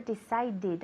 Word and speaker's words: decided: a bigger apartment okay remember decided always with the extra syllable okay did you decide